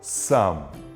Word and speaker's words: some: Vimos que a letra E não é pronunciada. Você só fala some.